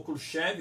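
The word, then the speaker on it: Khrushchev: imagem dele bem novo unikita cruchi ou cruchev dependendo de como ter um pronunciar e aqui o presidente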